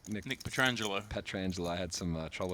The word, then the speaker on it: Petrangelo: Jason and you know Nick petrin I I always get his name wrong Nick Nick petrangelo petrangelo I had some trouble with that in